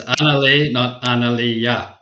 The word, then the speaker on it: Analea: that uh in washington state okay am i pronouncing your name correctly yes yeah so it's annaleigh you know i i i get uh people